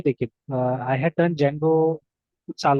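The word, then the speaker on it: Django: उसको बताने के लिए, क्योंकि वो हमेशा डी जेंगो प्रोनाउंस करता था ना, बट इफ you listen to the pronunciation it's जेंगो, ठीक है।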